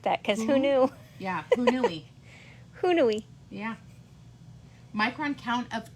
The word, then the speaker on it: Haunui: We're pronouncing it wrong. It's Hoo-noo-ee. Hoo-noo-ee. I kind of like that because who knew? Yeah, Hoo-noo-ee.